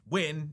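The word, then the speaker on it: Hyunh: Win, by the way, which is pronounced Wyn if you couldn't tell by the way I've been saying it, is a deliberate misspelling of the Vietnamese surname Wyn.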